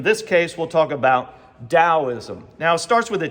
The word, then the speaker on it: Taoism: case, we'll talk about Taoism. Now, it starts with a T in our transliteration in English, but it sounds like the letter D as in dog, Taoism, right?